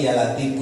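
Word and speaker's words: يا لطيف: Jadi baca jangan ya lat tapi ya latifu.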